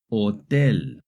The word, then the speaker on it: hotel: In Spanish, the letter H is always silent. Whether it's at the beginning, in the middle, or at the end of the word, it's never pronounced. Here are some examples of words that have the letter H. Hola, hotel, ahora.